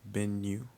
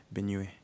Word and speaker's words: Benue: West Africans pronounce it as Benue. Benue? Yeah, and then people from East Africa pronounce it as Benue. And I Benue. think, yeah, Okay. it's mostly because there is a state in Nigeria called Benue, and I think a river called Benue. So for them, it's easier to pronounce it. I think for us, we just pronounce it the way we just see it, probably.